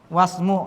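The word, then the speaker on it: وَاسْمُ: Maka bacanya boleh apa? Boleh wa ismu, boleh. Atau apa? Wasmu langsung. Karena ini hamzah wasl.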